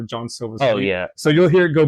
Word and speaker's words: Jean Silva: I uh we we dispute on whether it's Jean Sila John Silva so you'll hear it go both ways um